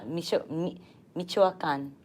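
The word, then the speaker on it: Michoacán: It's Michoacan, There you go.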